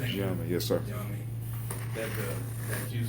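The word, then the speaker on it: Gye Nyame: In Gye-Nyame, am I pronouncing? Gye-Nyame, yes, sir.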